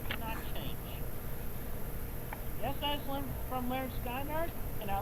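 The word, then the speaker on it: Lynyrd Skynyrd: Yes, that's from Leonard Skinner, and I like that song. I'm pretty sure Shanny would pronounce it Liner Skynerd.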